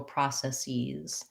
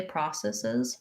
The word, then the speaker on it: processes: e and a z so one process and several processes i think you can also say processes processes so the normal rule when a word ends in s and we add the e s to make a plural we have the z sound so for example place that has the s sound and places process processes but i think process sees changes to an e or has that option